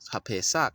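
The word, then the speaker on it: הפסח: right to left, right on the right side, HaPesach, is not Easter. It's pronounced HaPesach, and that is a proper noun.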